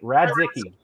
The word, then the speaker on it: Radzicki: now I'm getting it rad zicky right am I saying it right rad Dickey perfect so we are really